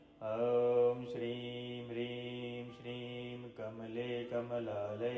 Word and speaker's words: ओम: उच्चारण शुद्ध करें क्योंकि सबसे पहले ओम नहीं अकार मकार और उकार अर्थात अ उ और म अ का उच्चारण करते समय मुख थोड़ा खुला हो उ के उच्चारण में होठ गोल हो और म के उच्चारण अर्थात मकार के उच्चारण में होठ बंद हो पहले आपको हम यह